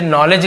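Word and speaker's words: knowledge: इसमें क्या होता है आप देखिए के को आप के नहीं पढ़ेंगे यहां पे आप ध्यान दें के ए एक साथ होता है उसे साइलेंट लेटर में के साइलेंट हो जाता है क्या होता है साइलेंट यहां पर लेज में भी डी साइलेंट होता है तो इसे हम लेड ज डी कहीं पे भी नहीं आएगा जैसे नॉलेज लिखते हैं नॉलेज वैसे ही तो ये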